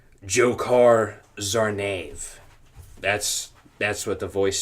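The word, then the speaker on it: Dzhokhar Tsarnaev: his name for a correct pronunciation it is pronounced jokar Zar that's that's what the voice sounded like too jokar zv and the verdict read according to CNN on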